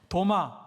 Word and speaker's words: 도마: 도마, 디두모라고 하는 것은 헬라식의 발음이고 도마는 히브리식 발음이라 똑같은 이름이에요.